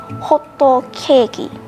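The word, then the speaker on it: ホットケーキ: Another way to say pancake is hot cake, so that's basically how they say it, hotto keiki.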